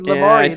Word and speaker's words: Lamourie: Yeah, it rhymes with story. So you said Lamourie.